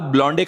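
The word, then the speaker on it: blonde: अपने बाल ब्लॉन्डे कराने गई है, चुड़ैल। वो ब्लॉन्डे नहीं, ब्लॉन्ड होता है।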